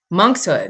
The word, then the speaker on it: monkshood: I was given two, is this monkshood? Am I saying it right? Monkshood.